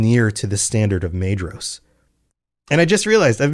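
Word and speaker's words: Maedhros: And in the confusion that they wrought, they came near to the standard of Mros. And I just realized I've been doing it again. Pronunciation is rough. Mos. It's a DH.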